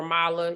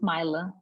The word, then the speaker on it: Myla: there's any questions for Mala you can um am I saying your name correctly I feel like I'm saying it wrong yes it's Myla okay um formala or